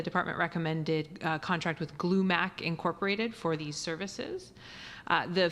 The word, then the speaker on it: Glumac: I believe it's pronounced Glumac.